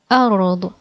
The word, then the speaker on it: أرض: A r ض أرض أرض أرض أرض أرض أرض. Okay, أرض means earth. أرض means earth.